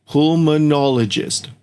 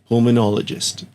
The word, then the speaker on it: pulmonologist: To pronounce that it is pulmonologist. Pulmonologist.